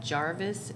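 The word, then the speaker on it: Garvis: of the new system it is called Jarvis it's spelled g g-a-r-v-i-s I don't know why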